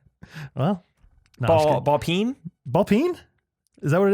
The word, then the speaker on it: ball peen: Ball peen.